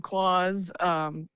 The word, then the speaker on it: Claws: gonna be called Probable Clause. 11 songs. It's a song about. So that's is it a Christmas album? No. Probable no, that's funny. Clause? No, it's actually spelled like CLAWS.